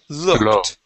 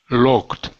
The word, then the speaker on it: looked: is looked okay now here you're pronouncing a l saying L okay pronouncing it like a long u saying L okay it's more like a the looked looked there you go one more time looked